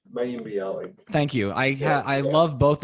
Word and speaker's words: Mayim Bialik: I can never pronounce her name. Mayim Bialik.